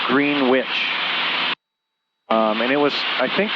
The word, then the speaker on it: Greenwich: Spelled the same as Greenwich, Connecticut, but it was pronounced Greenwich.